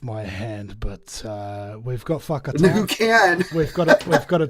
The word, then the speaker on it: Whakatane: And Whanganui, and they're all spelled with W's and H's for some reason instead of an F.